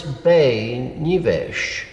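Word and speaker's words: Beinn Nibheis: never heard anything else the garlic is bay nevesh which would be which is spelled b-e-i-n-n if you say ben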